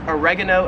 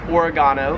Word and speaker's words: oregano: We would call it oregano in the States. However, here in Australia, it is pronounced oregano.